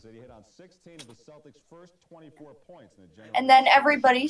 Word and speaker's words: Celtics: But but yes, if you're talking about the basketball team, you say Celtics.